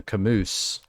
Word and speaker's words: Camoose: gonna combine it into Camoose. It rhymes with caboose.